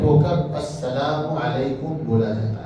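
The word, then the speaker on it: السلام عليكم: सलामती हो दुनिया का जो सलाम है वो अस्सलाम अलकुम है सलाम के लफज़ के साथ अलिफ लाम आता है और ये लाम जो है वो सीन के साथ मिलने की वजह से साइलेंट होकर अस्सलाम वालेकुम बोला जाता है।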